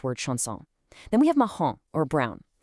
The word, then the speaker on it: marrom: Then we have marrom, or brown. The ã there matches the on in the French word nom.